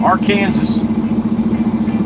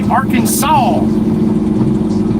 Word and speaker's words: Arkansas: Pronunciation of our Kansas. State officially dictates the pronunciation of our Kansas should be Arkansas.